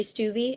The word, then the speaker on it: Stuvey: We have Christy Westland, and then write-ins Dom Ventura, and then is it Mary Stuvey? Is that how I'm pronouncing her name?